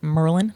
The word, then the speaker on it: Maryland: I'm originally from the East Coast from a a little uh little state called Maryland, or as I used to pronounce it, Merlin, the wizard.